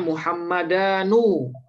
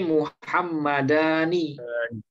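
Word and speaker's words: مُحَمَّدَانِ: Jangan bacanya Muhammadanu, tapi Muhammadani.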